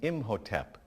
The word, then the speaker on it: Imhotep: This pyramid was for King Zoser, that's spelled Z-O-S-E-R, in about 2650 BCE. It was built by an architect named Imhotep, I-M-H-O-T-E-P.